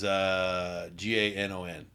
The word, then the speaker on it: Ganon: Gannon as in Rich? Spelled the same way? Rich Gannon? No, it is Ganon.